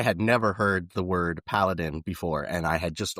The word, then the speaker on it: paladin: And everybody was like, I think you put the wrong emphasis on the wrong syllable over there, but it's paladin. And I'm like, that can't be right. Paladin, like Aladdin. I mean, paladin, like Aladdin. And they're like, no, it's paladin.